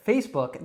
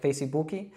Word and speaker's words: Facebook: Now, we don't pronounce again the E at the end of face. We don't make any extra sounds after the K. I've actually heard, I believe in Brazil, they'll say it like Facebook. So that's like a completely different pronunciation. I think Americans wouldn't even really know what you're saying.